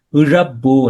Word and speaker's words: இழப்பு: Okay, but இங்க பாத்தீங்கன்னா ஈ யூ என்ற சவுண்ட், என்ற சவுண்ட், இடம், இழப்பு என்றுதான் வரணும். காரணம், இறப்பு என்று சொல்றப்ப நீங்க எந்த ர உச்சரிச்சீங்கன்னா இந்த ர தான் உச்சரிச்சீங்க.